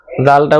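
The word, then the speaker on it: ذال: জালটা উচ্চারণ করতে হবে জিহ্বার আগা সামনের উপরে দুই দাঁত এই দাঁতের আগার সাথে লাগিয়ে তারপরে জালটা উচ্চারণ করতে হবে।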